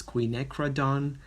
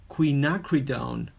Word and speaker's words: quinacridone: I found this gorgeous quinacridone violet we've been trying to pronounce this color for a while Queen Queen knock read own so quinacridone are a